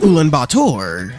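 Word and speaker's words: Ulaanbaatar: we will start with anen Bor and yes I did look that up that's how his name is pronounced did you know that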